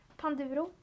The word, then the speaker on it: Panduro: Panduro, that's how you say it.